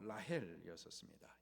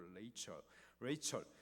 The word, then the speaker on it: 라헬: 레아하고 라헬이었습니다. 영어 발음으로 하면 리아 그리고 레이첼.